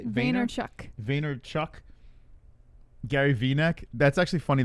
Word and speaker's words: Vaynerchuk: Vaynerchuk.